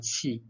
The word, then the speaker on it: qi: in the oral test, they said QI. I was confused what they were talking about. So you need to pronounce correctly qi.